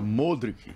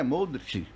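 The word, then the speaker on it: Modrić: aquele meio de campo modric é modrich são várias pronúncias que a pessoa fala modete e moderat por exemplo português o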